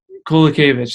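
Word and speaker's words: Kowalkiewicz: I barely figured out how to pronounce Jędrzejczyk, so Kolakevich.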